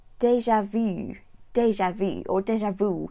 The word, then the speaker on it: déjà vu: Yeah, that's exactly the same than in French. There's nothing magical about this, but it's literally déjà vu. And same with the two accent on the E and the A. So you literally take the French expression in English with English accent.